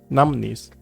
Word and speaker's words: numbness: Numbness. This is a silent B, so that is why its pronunciation doesn't include it, according to the API, the International Phonetic Alphabet.